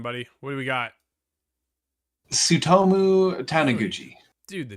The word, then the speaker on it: Tsutomu Taniguchi: Tsutomu Taniguchi. Dude, the T is silent there? The TS makes a sound, yeah. Well, you fooled me. Like tsunami.